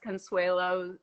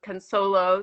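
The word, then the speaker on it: Cunsolo: everybody's reading rereading uh jess consuelo consolo sorry i'll say it right um read all of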